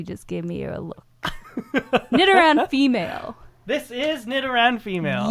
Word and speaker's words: Nidoran: I was saying it wrong earlier. So it's a Nidoran? Nidoran, yeah.